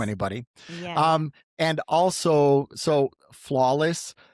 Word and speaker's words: FLWLS: And also, so Flawless, spelled FLWLS, but pronounced flawless.